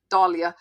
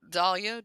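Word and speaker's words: dahlia: And Dalia does bring up the pronunciation. I prefer Dalia myself.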